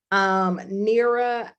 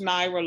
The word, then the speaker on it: Naira: Okay, so if we have time, Nira, I'm going to circle back with you about explaining the story lab cards. Is that cool? Yes, and it's pronounced Naira, Lauren. Naira.